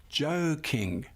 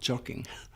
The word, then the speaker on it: joking: So, we say joking, not jocking.